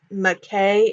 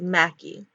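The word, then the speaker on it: MacKay: they move out and they're spelled like m a c k a y so that's why I pronounced it like McKay instead of Mackie Barb and Mac McKay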